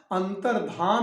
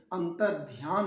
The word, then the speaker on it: अंतर्धान: अंतर्धान, अंतर्धान सही है, अंतर्ध्यान नहीं।